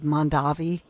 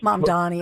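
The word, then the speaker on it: Mamdani: bit more of Mandav um I almost said Mandavi. Is that a is that a winery? Maybe we all need to drink more like Believe me I've mispronounced his name so many times. M Donnie I should say.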